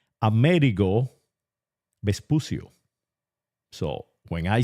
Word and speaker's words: Amerigo Vespucio: Americo Vespucius, or how I pronounce it in the Castilian language or the Ibero-Visigothic language, Amerigo Vespucio.